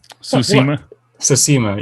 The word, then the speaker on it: Tsushima: Tsushima, yes.